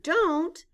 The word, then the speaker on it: don't: and say do not the letter O stands for the sound o in the word do but in the word don't the O stands for the long o sound o the apostrophe takes